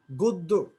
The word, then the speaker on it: গদ্য: গদ্য, গদ্যের গয়ের পরের ধ্বনি দ, দয়ের সাথে জফলা থাকার কারণে আদ্য অধ্বনি ও এর মধ্যে উচ্চারণ হচ্ছে।